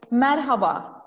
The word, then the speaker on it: Merhaba: Okay, so maybe Celine, how do you say hello in your language? It's a little bit long, I'm sorry. Merhaba. Merhaba. Merhaba. Yeah. Merhaba or merhaba? The second one is better.